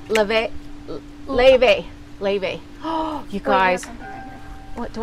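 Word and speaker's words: Laufey: probably have the um hold laf or it's Le but like it's it's spelled l a u f e y uh-huh Le is yeah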